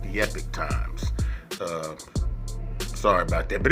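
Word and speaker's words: Epoch Times: pronouncing it at first but it is actually pronounced the epic times uh sorry about that but anyway back to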